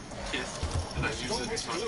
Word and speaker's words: Kith: It's the word kiss, pronounced like Mike Tyson, so Kith, and I use it to not get demonetized whenever I'm talking about naughty stuff.